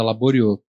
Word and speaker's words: Laboriaux: Quando eu escrevo um texto, tem uma parte na Rocinha chamada Laborieux. Se escreve como se fosse em francês, Laboriaux, AUX no final.